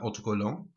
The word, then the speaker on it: autocollants: 20 stickers or 20 autocollants. S on the end, remember. Don't pronounce it though.